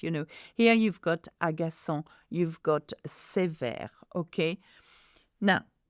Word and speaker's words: agaçant: at the end, and agaçant, which means annoying, begins with a vowel. So très agaçant. Here, we pronounce the S of C because it has a cédilla under the C.